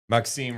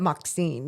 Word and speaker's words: Maxime: I know it's Reo, but Maxim. Yeah. Yeah. Yeah. Maxim. It's M A H K S E M for the pronunciation.